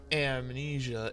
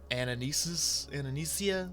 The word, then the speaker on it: Anamnesia: It is not Amnesia, it is Anamnesia, whatever.